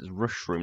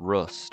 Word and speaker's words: Rushroom: turns out being mispronouncing it's rushroom not rust I thought it was rust but yeah it's interesting